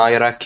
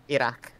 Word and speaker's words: Iraq: or something oh yeah I rock your mother don't say that again say it correctly or not or don't say it Iraq apologies yes good good